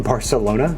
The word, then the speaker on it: Barcelona: to fly to Barcelona do you mean Barcelona Barcelona it's how the locals say it actually you're right um